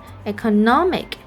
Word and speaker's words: economic: And this is also can be found in the word like economy. And when it turns to another word, economic. So the third syllable is stressed.